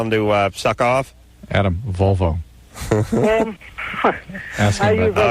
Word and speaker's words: Volvo: Unlike my barber who says Bobo and Saab. Like, Saab. Yeah, Bobo and Saab. Those are the way he pronounces it.